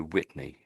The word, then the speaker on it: Whitney: It's Yeah, I'm sort of Um You're you're I think you're sort of saying two words there, saying wit and then you're saying ney. Whitney. And I can understand that. But what I'm saying, if you just just just listen a second, it's tricky. Whitney, Whitney. Whitney. Whitney. Um, I think your T is a bit too strong.